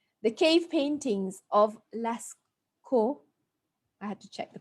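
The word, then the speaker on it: Lascaux: I pronounced this correctly the cave paintings of last KO I had to check the pronunciation of Lesco it's a city in France were made in the upper Old Stone Age the cave paintings of Lasco were made in the upper old stone age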